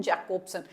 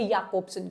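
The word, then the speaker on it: Jakobson: आपके Victor स्लोवास्की, then Boris आइकेनबॉम, Yuri टिन्यानोव and Roman जैकोब्सन। अब इनका एक्चुअल जो प्रोनाउंसिएशन है वो है याकोब्सन, क्योंकि हमारे रशिया में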